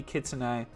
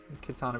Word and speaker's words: Kitsune: It's meant to be Kitsune. But I started loving Kitsana because of how you say it.